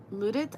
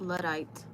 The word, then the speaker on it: Luddite: Oh, it's pronounced Luddite. Luddite.